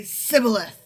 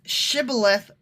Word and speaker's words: shibboleth: he was from ephraim he would say sybileth because people for me from cannot pronounce the word correctly not that they correct not that they pronounce it differently they can't pronounce it correctly because it's shibboleth versus sybil okay but still so